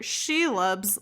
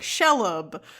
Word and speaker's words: Shelob: chapter she loves layer i'm gonna have to like force myself to say it that way because i i didn't know how to pronounce it and then i just listened to the audiobook to get the pronunciation and i was saying like in my head i was saying it like shelb or schlob or something yeah and it's kind